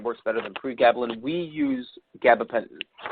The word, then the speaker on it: pregabalin: The next question is, Which gabapentinoids do you prefer, gabapentin or pregabalin? Excuse my pronunciation if any of those are incorrect.